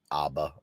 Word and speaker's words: ABBA: That's because Dana hates Abba or Aba or Abba depending on how you say it. I say ABBA. I know people say Aba. I don't know why they do.